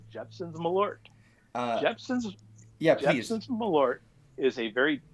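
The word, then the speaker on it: Malört: You are pronouncing it correctly. Jeppson's Milord.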